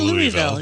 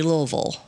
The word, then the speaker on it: Louisville: whole time okay so I'm Nebraskan I say Louisville well most people say Louisville yeah but the locals they say Louisville Louisville mhm it's like they're having a stroke while they say it yeah or they got marbles in their mouth I mean tomato tomato